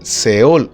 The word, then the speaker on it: Sheol: está pensando en el Seol o Sheol. En el Antiguo Testamento nosotros leemos una palabra que se llama Seol o Sheol. Sheol es la pronunciación hebrea. Seol está traducido así al español.